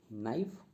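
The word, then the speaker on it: knife: Right में डब्ल्यू जो है ये साइलेंट लेटर है। नाइफ, नाइफ में के जो है ये साइलेंट लेटर है।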